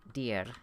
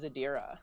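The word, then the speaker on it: Adyra: pronouns and stuff so your name uh dear and then what are your pronouns that's not how you pronounce it i'm gonna keep saying it funny anyway no it's funny how do you say it well my full name is adira adira okay yeah so two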